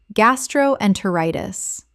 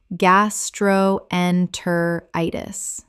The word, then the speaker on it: gastroenteritis: Word 67, gastroenteritis. Common mispronunciation, gas-tro-en-ter-i-tis. Correct pronunciation, gas-tro-en-ter-i-tis. Six syllables with the stress falling on the fifth.